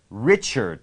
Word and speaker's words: Richard: ริชาร์ด เหรอ ริชด ริช์ด ถ้า เป็น ฝรั่ง ออก เสียง นะ ครับ Richard นะ ฮะ Richard ซึ่ง A R ออก ออก เหมือน จะ เป็น E R D Richard Richard ฮะ Richard